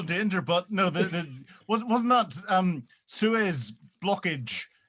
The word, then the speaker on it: Suez: But no, wasn't that Suez blockage? Note I got the pronunciation right. It wasn't sewerage blockage. The Suez blockage.